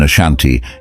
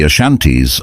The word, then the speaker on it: Ashanti: names fany and Ashanti it is notable that the initial a in Ashanti is not pronounced by the local people it does not clarify